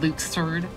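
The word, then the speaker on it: Luxord: pronounce his name kafka it's luke's herd that's that's apparently how it's pronounced in uh the games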